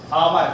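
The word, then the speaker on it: hour: जैसे हमने कहा क्या लिखा है, आवर, क्या लिखा है, आवर, और कुछ लोग क्या पढ़ते हैं, आवर पढ़ते हैं। आवर नहीं होता, ये क्या होता है, आवर होता है।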